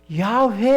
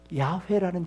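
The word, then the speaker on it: 야훼: 야회라는 그 이름을 하나님이 알려 주신 그 이름을 감히 피조물인 존재가 어떻게 감히 그 이름을 부르느냐? 그래서 기록을 야회라고 하고요. 읽을 때는 어떻게 읽은 줄 아셔요?여 아도나이라고 읽었습니다.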